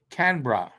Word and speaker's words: Canberra: be around at fifth Canberra is actually pronounced Canberra as in cannot no that does what